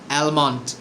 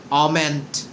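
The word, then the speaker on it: almond: যেমন আমরা প্রায়ই বলে থাকি অ্যালমন্ড। অ্যালমন্ড মানে হচ্ছে কাজু বাদাম বা বাদামকে বোঝানো হয় অ্যালমন্ড। এর সঠিক উচ্চারণ হচ্ছে অমেন্ট।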